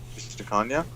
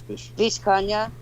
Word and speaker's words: Vishkanya: Vishtakanya? Yeah. Perhaps, but I think you're. How do you spell that? Pronouncing it wrong. Yeah. Say it again. Vishkanya.